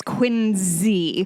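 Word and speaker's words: Quincy: And it's Quinzy.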